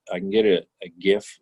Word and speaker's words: GIF: can get it a gif or Jif that's how you pronounce it I'll let you investigate